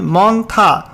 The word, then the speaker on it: Montha: যেখানে সাবজেক্টে বলা হয়েছে severe সাইক্লোনিক্সম মন্থা pronunciation মন্থা over coastal Andhra Pradesh cross দা কোস্ট।